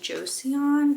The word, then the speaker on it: Joseon: I use Beauty of, is it pronounced Joseon?